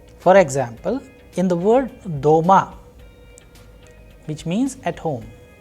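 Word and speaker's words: дома: example in the word doma which means at home the vowel sound o is pronounced with greater force so the stressed vowel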